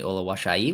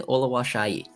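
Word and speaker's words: Oluwaseyi: also recently interviewed Tanny Olay which is how I now know how to properly pronounce his last name for anyone who is wondering he told me it is Tanny Ola Shai so there we are so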